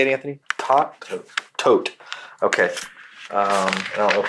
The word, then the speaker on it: Todt: Todt.